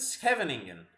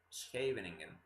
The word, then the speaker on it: Scheveningen: Oh, don't do the hard G at the end. The NG is just the NG sound. Ooh, I didn't know that. Oh, she's Scheveningen. Scheveningen.